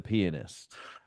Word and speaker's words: pianist: The Pianist, 2002, The Pianist. Pianist. Um I said pianist. It's a three-syllable word, pianist. No, I only heard penis.